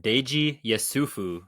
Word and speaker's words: Deji Yesufu: welcome back to the theologizing subject we have Dei yufu and you're going to have to tell me how bad I just butchered your name yeah that that you got